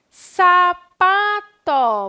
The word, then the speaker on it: sapato: paroxítona então vamos continuar sapato vamos separar o sapato lá olha só lápis vamos descobrir a sílaba tônica de sapato ó sapato qual é muito bem que ele falou pa e de lápis ficou